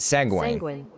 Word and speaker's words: sanguine: Sanguine.